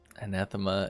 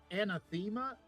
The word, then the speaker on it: Anathema: witch I'm aware okay a lot of people just are like anema wow I know me pronouncing it correctly probably should have keyed